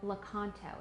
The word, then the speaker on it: Lakanto: And the brand is called Lakanto. It's spelled L-A-K-A-N-T-O.